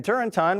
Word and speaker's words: Turrentine: Democrat Dan Turrentine, rhymes with wine, agrees.